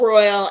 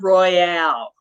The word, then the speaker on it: Isle Royale: to show you it it is spelled ro y le but it's not Royale for whatever reason it's royal it's it's French yeah so it's not